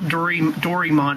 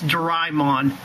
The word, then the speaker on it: Doraemon: Like it's not Dorymon, it's Doraemon. Even the Disney XD dub pronounces it like that.